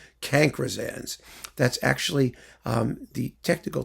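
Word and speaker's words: cancrizans: of classical music and cancersans is spelled c-a-n-c-r-i-z-a-n-s cankrisans that's actually um the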